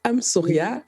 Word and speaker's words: Amsoria: titre de votre livre I'm Sauria qui s'écrit amsoria donc vous pouvez c'est